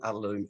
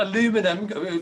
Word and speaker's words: aluminium: strength properties of an aluminium? Do you say aluminium or aluminum? Aluminium. We pronounce. Thank God for that. Right, there we are. No, it's not aluminum.